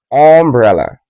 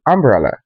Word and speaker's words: umbrella: You might say umbrella. It's meant to be umbrella, not umbrella.